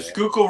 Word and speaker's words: Schuylkill: I can't pronounce it. Sickle or whatever it is. Google. The Snookle or whatever. Snookle. The Schuylkill River.